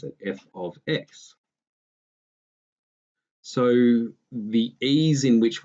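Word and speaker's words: f(x): f of X and yeah that's how we pronounce it f of X so the ease in which we can do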